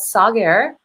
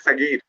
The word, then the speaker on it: Saghir: It is pronounced as Sagir. Sagir. Okay, Sagir. Sorry, I was a little confused if it's Sagar or Sagar. Actually, it should be Sagher, but my parents wrote it Saghir.